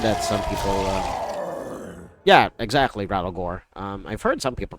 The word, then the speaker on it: Rattlegore: Yeah, exactly, Rattlegore. I've heard some people pronounce it that way, so.